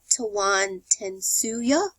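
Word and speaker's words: Tawantinsuyu: Cusco was not just the capital um of tawan tensu um which was is referred to as the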